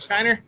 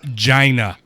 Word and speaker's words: China: What about China? It's pronounced Gina.